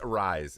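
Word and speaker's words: Arráez: Arias. Arise. Luis. Arise is how it's pronounced.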